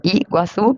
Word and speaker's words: Iguazú: es una palabra guaraní son las Cataratas de y guazú y guazú pero la Y esa se dice Perdóname pronunciation pero si se dice algo así como